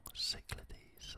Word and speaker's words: Cyclades: i've pronounced that wrong cyclades i i think looks like ladies um anyway a few